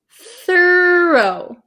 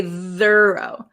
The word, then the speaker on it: thorough: Okay, in here, in these 2 words, though, and thorough. Okay, though has a vocalized TH, though, and thorough does not. We don't say thorough. Thorough.